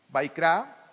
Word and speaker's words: Vaikra: Se los puse ahí en hebreo, cómo se pronuncia el Bereshit, que es Génesis, Shemot. Ahorita estamos ya en Shemot, Vaikra, Levítico, Bat Midbar, Números y Devarim, Deuteronomio.